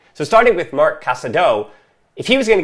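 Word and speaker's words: Marc Casadó: that i've been saying well i said mark casado but it's mark casado i was ignoring that accent on the o and i've learned after three years how to say it properly so starting with mark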